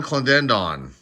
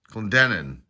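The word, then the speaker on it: Clendenon: uh knoop or noop k-n-o-o-p-e Alston Howard Don clandendon Clendenin there I said it right father Jesse gonder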